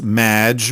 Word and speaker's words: Maginot: However, you have mispronounced my name. It's Madge, which rhymes with badge. As in duh, and no as in more than you.